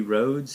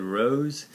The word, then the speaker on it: Rhodes: He, like, was talking about it, and he mispronounced Cody Rhodes. He said Rose.